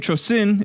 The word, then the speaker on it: Chosin: of the Korean Peninsula the name Chosin is the Japanese pronunciation of the Korean place named Chang Jin and the name stuck